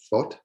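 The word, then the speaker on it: Fót: So another thing I did was I went to FOT. Is that pronounced correctly? FOT, yeah.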